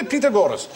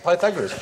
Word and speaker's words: Pythagoras: you ask your mathematics teacher must do the pitagoras and are we going to do petag gorus go shut up FR pagor years later I discovered he meant P Pythagoras he used to pronounce pineapple upside down cake